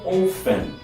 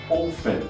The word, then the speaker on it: often: Ou então often. Often, que significa frequentemente. Perceberam na hora da minha pronúncia? Eu não li often, eu falei often, como se o texto fosse mudo na hora da pronúncia, tá?